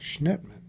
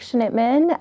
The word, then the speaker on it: Schnittman: wonderful expert in ADHD an executive function Brook Schnittman welcome thank you for having me I appreciate